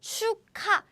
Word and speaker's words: 축하: So 축하, 축하, this is how we pronounce.